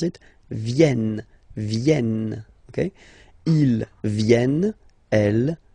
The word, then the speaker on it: viennent: So you've got this double N just after the so it will change a little bit your pronunciation. You will have to pronounce this like okay? Ils viennent. So remember this classic ending ENT for the third person of the plural is here, but phonetically it doesn't exist, so you don't pronounce it.